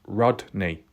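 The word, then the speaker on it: Rodni: in the past I was calling it Kylie rodri rod drie but it was pronounced Rodney and then people had a bit of a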